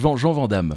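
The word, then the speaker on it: Jean Van Hamme: écrit Jean Vandal mais vous l'avez prononcé dam c'est Jean Van Dam Jean van Daman et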